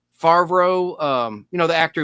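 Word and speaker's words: Favreau: Favro. Um you know the actor who plays Happy and Iron Man. Please. Uh, oh, Jean Favro. Thank you, Favro. I never can pronounce that correctly.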